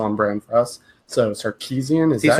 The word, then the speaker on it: Sarkisian: So Sarkisian, is that how you pronounce it?